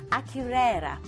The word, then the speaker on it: Akureyri: And then on day 6, you are sailing into Iceland, into Akureyri. I had to look up the pronunciation of that earlier, but I promise that's how you say it.